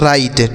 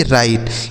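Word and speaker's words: write: तो देखिए यहां डब्ल्यू साइलेंट है। इसको नहीं पढ़ा जाता है। तो इसे क्या पढ़ा जाता है? इसे पढ़ा जाता है राइट। ठीक है? आर आई टी ई राइट।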